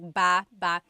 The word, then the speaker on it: baba: So depending on how you're saying it, it could be ba chin baba. Emphasis is on the first syllable. Baba. Then there's baba baba. Emphasis is on the second syllable syllable. That means to go down. Baba, like going down an elevator.